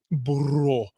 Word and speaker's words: Burro: Burro. Got to roll your R's when you say Blind Burro.